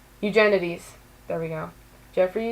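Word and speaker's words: Eugenides: looked up how to say his last name eugenities there we go Jeffrey eugenities and yeah so I really like that book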